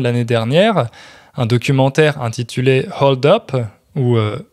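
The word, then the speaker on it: Hold-Up: dernière un documentaire intitulé hold up ou hold up comme on le prononce à la française en gros c'est un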